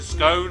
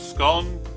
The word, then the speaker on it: scone: Well, not everybody likes everything, and whether you pronounce it scone or scone, there's no love lost here. You're all welcome. It doesn't matter at all. I personally pronounce it scone, and I love it